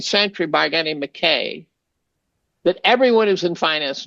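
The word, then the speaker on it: Mackay: by a guy named McKay that everyone who's in finance knows, and he pronounced it McCad. And I'm thinking, Andrew could not have made that mistake.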